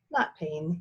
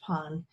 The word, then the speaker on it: pain: at him for a moment then he smiled not pain it's pronounced pon and as the French word for bread he